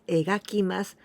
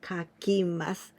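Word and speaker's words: 描きます: paint some pictures kakima kakimas sometimes we pronounce egakimasu but here in this case we use kakimas this is the first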